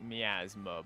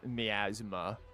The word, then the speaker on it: miasma: I've I've heard it pronounced as miasma before. Uh more frequently as miasma um and not mythma.